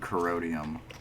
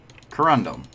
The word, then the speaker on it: corundum: melt down those shovels i do actually need corrodium corundum i never know how to pronounce this corundum thank you for correcting me oh [ __